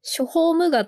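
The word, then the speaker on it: 諸法無我: んですけどえっとこれはね諸法ムガと読むらしくておおはい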